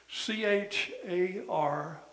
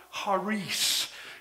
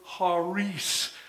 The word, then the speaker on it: charis: sea is silent and the I sounds like a long e in the Greek in the Greek it's pronounced haris and the r is